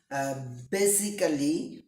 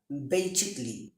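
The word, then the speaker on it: basically: থাকে তাহলে P silent এ এর পরে যদি ডাবল এল ওয়াই থাকে সেই ক্ষেত্রে এ উজ্য থাকে অথবা সাইলেন্ট থাকে যেমন আমরা বলে থাকি একচুয়ালি বেসিক্যালি বেসিক্যালি হবে না বেসিকলি বেসিকলিবে বেসিকলি বেসিকলি একচুয়ালি commercially এভাবে হবে।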